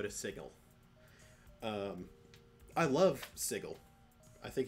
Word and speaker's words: Sigil: avanthi is team fights i pronounce it sigel is it spelled s-i-g-i-l like the word sigil yes am i going to pronounce it like that no because uh i i would get him confused with the actual word sigil like if someone has a sigil i suppose that someone could be wearing a sigil from sigel but that's why i pronounce them differently so i truthfully i